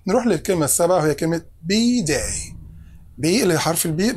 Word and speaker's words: B-Day: في تشديد على the first letter الحرف الأول, بقول be day like that.